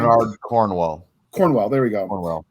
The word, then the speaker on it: Bernard Cornwell: But that you mentioned back to the Sergeant in the Sharps series by Cromwell, I think is how you say the author's name. Bernard Cornwell.